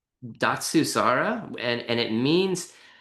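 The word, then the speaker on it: Datsusara: By the way, did how do you pronounce it? And then what does it mean? Datsuara.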